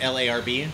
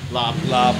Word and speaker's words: larb: you're British because like L-A-R-B is pronounced. Lob, yeah. which is pretty much exactly the way the Thai people say it. Yeah, and then an American reading L-A-R-B, they would say larb.